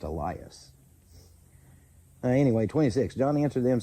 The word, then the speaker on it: Elias: Okay, so I think according to this, it's actually supposed to be pronounced Elias.